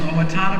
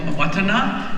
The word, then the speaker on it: Owatonna: I'm from Minnesota, and it's like I'm from Mankato, and there's like a place called Owatonna, but it's really called Owatonna. That's the way it should be pronounced.